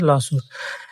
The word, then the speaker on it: lawsuit: শব্দটা হচ্ছে লসুট। আমেরিকার বিভিন্ন অঞ্চলে দক্ষিণ এশিয়া এটা লসুইট উচ্চারণ করে, কিন্তু সঠিক উচ্চারণ হবে লসুট।